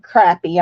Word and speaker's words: crappie: had fried a crappie we call it crappie in Arkansas some people would call it crappie I know how it's spelled but we call it crappie which is a road